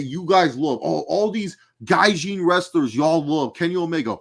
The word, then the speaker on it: gaijin: How do you say gaijin? Gaijin. It's gaijin. Whatever, same shit. With an N. There's an N.